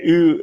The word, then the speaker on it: Ewan: Brent says Owen a lot. Owen. It's like Owen. I Owen say it. McGregor. Oh, it's My best Ewan. Ewan. Like Yeah, you. it's Like Ewan. you. Yeah, Ewan.